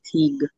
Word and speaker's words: Teague: are spelled that way they say teague with a strong g but they don't cite